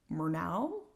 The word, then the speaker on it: Murnau: Murnau, I think is how you would pronounce it.